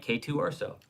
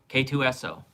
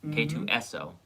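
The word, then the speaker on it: K-2SO: K2 Urso. I thought so. Yeah. Yeah, I thought he was. Yeah. Okay. K2SO, not Urso. K2SO.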